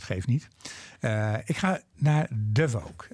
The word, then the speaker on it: Davóg: Ik ga naar Davóg. It's a very difficult name. To pronounce it. It's an unusual name. Yes. Davóg, my mother would say.